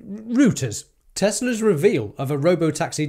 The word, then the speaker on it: Reuters: Retars? How do you say it? Retars? Reuters.